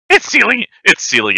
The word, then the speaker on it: Seelie: colored are from the Sealy, although the Unsealy, I don't think I'm pronouncing that right. I'm much more... It's Sealy and Unsealy. Okay. You got it right.